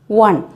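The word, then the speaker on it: one: എഴുതുന്നത് ഒ എൻ ഇ ആണെങ്കിലും നമ്മൾ പറയുന്നത് വൺ, വ ആണ്, വൺ. അതുപോലെ തന്നെ യൂണിവേഴ്സിറ്റി, യ.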